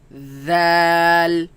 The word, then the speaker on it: ذال: Val, ذال val, ذال val. ذال. And this one comes from the same place as fa, which is the tip of the upper teeth, the edge of the